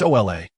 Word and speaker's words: hola: Hola. Leon tried to pronounce it with the correct tone, his face showing a hint of anticipation. No, it's OA.